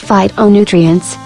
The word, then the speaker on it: phytonutrients: and special compounds called phytonutrients pronounced phytonutrients all of which are good for the heart think about phytonutrients as fighting for your health here are just a